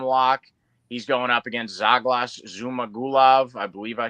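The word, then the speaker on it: Zhalgas: Zaglas. Okay. Kind of like Douglas, but with a Z. Yeah. All right. That's a good way to put it. Zuglas.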